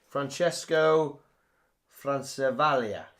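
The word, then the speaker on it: Francesco Francavilla: How do you pronounce that? I'm Italian. Francesco Francavaglia. There you go. The art done by him. I still might be wrong.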